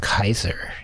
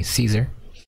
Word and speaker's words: Caesar: where they murdered Caesar so she pronounced Kaiser in Latin but modern people say Caesar although in Latin would be Kaiser but and he was